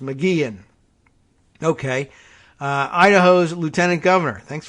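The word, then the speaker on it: McGeachin: the pronunciation gun uh mcgehen there's no ch sound it's just mcgean okay idaho's lieutenant governor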